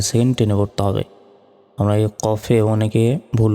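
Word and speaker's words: كاف: কফ অক্ষরটি চার সেকেন্ড টেনে পড়তে হবে আমরা কফে অনেকে ভুল উচ্চারণ করি কফ কে কাফ বলি এটা হচ্ছে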